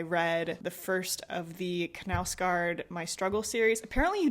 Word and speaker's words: Knausgård: the first of the Knausgård My Struggle series. Apparently you do say it as Knausgård, which in my brain, I would pronounce that as Nausgård, but you say the K.